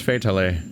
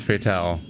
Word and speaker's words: Fatale: Yeah, her name's Fatale, not Fatale. That's why it rhymes with finale in that song.